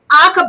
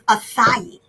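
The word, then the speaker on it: açaí: And so it has aca berry, yum berry. But first of all, we keep saying aca berry. The correct pronunciation is acai.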